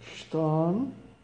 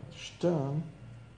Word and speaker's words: Stern: Der Stern, a estrela. Interessante que eu comentar com vocês, quando nós temos o ER junto no alemão, geralmente soa como um A. Vamos ver aqui. Stern, uma pronúncia aqui, ó.